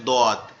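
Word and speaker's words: ضاد: দদটা জমিয়ে মোটা, মানে ধরে রাখতে হবে মোটা আওয়াজটা, জিহ্বার গোড়া উপরের ডান দিকের মাড়ির সাথে লাগবে, লেগে উচ্চারিত হবে দদ, দদ দদ।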